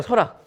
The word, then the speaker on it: 설악: 설악. 설악을 표준 발음이 그래서 중요하다는 거예요. 락이 표준 발음이잖아요.